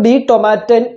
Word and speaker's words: die Tomate: When we are coming to German, it will be like die Tomate. Die Tomate. The tomato will be, in German it will be pronounced like die Tomate.